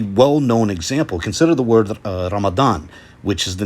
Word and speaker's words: Ramadan: as ramazan or even ramzan i've heard right so the word is spelled with a dud you know with this character dad but the letter is pronounced zad in farsi and urdu uses hence why you